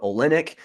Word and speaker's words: Olenick: Alyssa Olenick. I was going to say Olnick, but luckily I asked her beforehand how to pronounce that, so we got it right there on that.